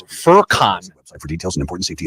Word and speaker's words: Furkan: Because his name is I looked up the pronunciation. It's Furkan.